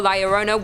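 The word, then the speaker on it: La Llorona: claws in number two Larona hailing from Hispanic folklore Liona which I'm pronouncing correctly now after you guys yelled at me in a previous video is also known as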